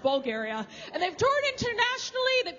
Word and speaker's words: Bulgaria: It's not pronounced bulge area. I was corrected. It's pronounced Bulgaria.